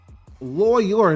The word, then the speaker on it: lawyer: Lawyer, nigga. 2 syllables, nigga. Lawyer.